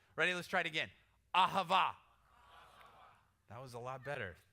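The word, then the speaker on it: אהבה: Listen, if you don't spit when you say it, you're not saying it right, okay? That's how you know when you're saying it right. Ready? Let's try it again. Ahava.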